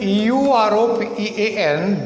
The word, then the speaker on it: European: European, E-U-R-O-P-E-A-N, begins with a vowel, but it is pronounced with a consonant sound, European, U.